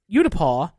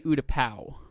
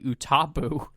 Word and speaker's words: Utapau: I say Utapau because that's how it's pronounced in the Battlefield 2 game in Galactic Conquest. I have heard from somebody Utapu. Ugh, that's which wrong. I don't think is correct.